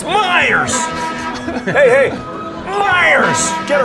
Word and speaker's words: Meyers: properly in chicago monday PA announcer was calling him miles over and over so after a foul Meyers decide taking his own hands it's Myers hey Liars get it